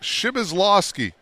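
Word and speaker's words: Przybylslawski: game you got a ton of points it's pronounced shibazlovsky nikki 5-2 freshman out of north bend indiana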